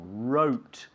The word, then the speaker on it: wrote: wrote a letter mhm it's a silent W yeah silent W wrote wrote now what I'm going